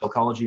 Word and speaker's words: Sellchology: So you type in Sellchology and it's spelled S-E-L-L for the word sell, and then C-H-O-L-O-G-Y. And that's, of course, the merging of cell and psychology, Sellchology.